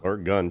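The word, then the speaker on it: Oregon: Or gun. She said you just take a picture and make a gun symbol. You'll never forget it again.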